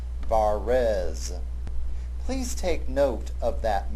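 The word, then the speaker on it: Varèse: And you will notice that his surname, Verase, has a downward pointing accent on the second syllable of his last name, on the first of the two E's, Verase.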